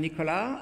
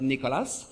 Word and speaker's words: Nicolas: So I'm Nicolas with a silent S, not Nicolas.